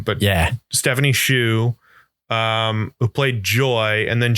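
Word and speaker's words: Hsu: And the character and Stephanie Sue, I believe is how you pronounce her last name. But Stephanie Shu.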